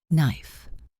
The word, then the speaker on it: knife: Knife. Silent K.